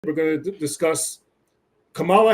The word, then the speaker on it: Kamala: we're going to discuss Kamala Harris or Kamala Harris you have to say it right Kamala Harris don't mess up Kam Kamala Harris you gotta say it the right way um but right right you know before she became vice president it was Kamala and now now she's vice president is Kamala okay so everybody make